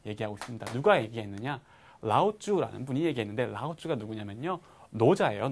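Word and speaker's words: Laozi: 읽었을 때 네, 노자가 라오쭈라고 하네요 그래서 노자 노자고 노자 다 아시죠 어떤 분인지 중국의 유명한 철학자 중국을 그러니까 한자 대표하는 발음이 라우쥬라는 얘기죠. 네 그러니까 노자를요 중국식으로 발음하면 라오쭈고요 그러니까 그거를 그냥 그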